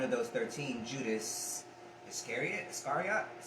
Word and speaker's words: Iscariot: unlucky because one of those 13 judas iscariot iscariot is how you say his last name yeah